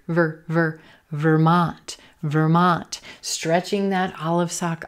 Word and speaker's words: Vermont: Vermont, Vermont. Olive sock, Vermont. Again, no stressed syllables, or I'm sorry, not a schwa here, but our first syllable, ver, ver, ver, an unstressed purple shirt, ver, ver, Vermont, Vermont.